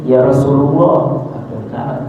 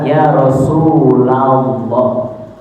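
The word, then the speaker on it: يا رسولَ الله: munadatnya maunada mudof ya maka dibacanya Ya Rasulallah oke nah ini agar eh tidak sering terjadi ketika baca hadis Ya Rasulullah Ya maka yang benar adalah Ya Rasulallah kecuali kalau mudanya Mufrad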